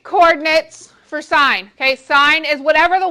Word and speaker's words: sine: this is the function sine it is written as s i n with theta do not call it sin it is not sin it is sine okay this one is